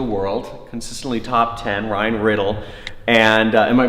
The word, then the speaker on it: Niddel: podcasters in the world, consistently top 10, Ryan NIDDEL. And am I pronouncing that right? Close, NIDDEL.